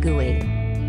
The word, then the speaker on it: GUI: personal computer with a graphical user interface or GUI pronounced GUI all Mac's are made